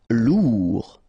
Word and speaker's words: Lourd: Lourd, final D not pronounced.